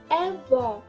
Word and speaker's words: avó: Pour les grand-mère, c'est juste la prononciation et l'accent qui change. C'est avó. Avó.